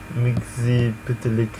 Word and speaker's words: Mxzyptlk: Mxzyptlk.